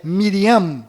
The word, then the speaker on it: Miriam: sofreram mudanças foram Maria, que na verdade é Miriam, com M mudo no final, Rei Davi, que